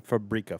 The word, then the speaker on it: Fabrica: this brand came from called Fabrica 5 um or fabria 5 if you're pronouncing correctly uh it was founded